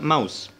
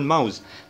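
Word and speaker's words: Maus: لاحظ ان انا بنطق الكلمة زي ما بكتبها بالظبط، يعني حرف الـ A اللي هو E بالانجليزي حرف الـ A نطقته، بعكس في الانجليزي ما كنتش بنطقه كنت بقول ماوز، لكن بالالماني هنطقه هقول ماوزي.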